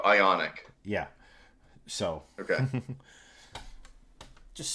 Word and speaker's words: IONIQ: Is it Ionic or Iconic? IONIQ. Oh, Ionic.